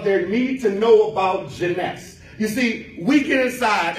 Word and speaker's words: Jeunesse: come and look at Jeunesse. You know why? Because first of all, I couldn't pronounce it. I called it Genesee.